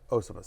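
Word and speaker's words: Iosivas: Higgins has missed, and again, before you even get to how do I pronounce Andre it? Osivas. Osivas, thank you very much.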